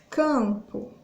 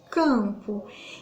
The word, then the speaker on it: campo: aí que que acontece ele é tipo como se ele não existisse na pronúncia e esse aqui como se eu tivesse uma sentiu então fecho a sua o som de ciális sai pelo nariz não são fechado e não sai da boca não consigo pronunciar o m